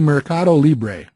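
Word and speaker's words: Mercado Libre: you know and uh how do you actually pronounce that it's actually marado Libre okay so free markets and for those of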